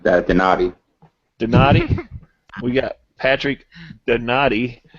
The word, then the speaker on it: Donati: That's Donetti. Donetti. That's the telemarketer pronunciation. Donati.